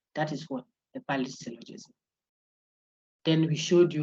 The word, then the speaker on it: syllogism: So the syllogism, you say it as if you wanted to say syllable. Oh. Somebody say, hey, then I'm going to it is there. Relax. You want to say it as if you were saying syllogism, cell, like syllabus. Cell.